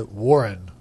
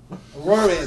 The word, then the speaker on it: Woirin: Varian, whatever. How do you say? How do you say Dave? I say Warren. Warin. Okay. Warren.